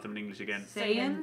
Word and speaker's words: Saiyan: obviously all say urgent say how do you pronounce them in English again Saiyan Saiyan right all the Saiyans are technically all more